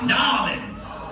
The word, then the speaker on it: New Orleans: But you got to say it right. Yes, Nolans.